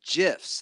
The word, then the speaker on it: GIF: graphic yeah but the the guy who invented it said it's it's a soft G and I go off gin and giraffe that's what I go